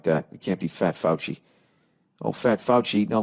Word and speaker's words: Fauci: um all right nia how do you present pronounce f-a-u-c-i fouchy i was gonna say fosse who's dr fauci i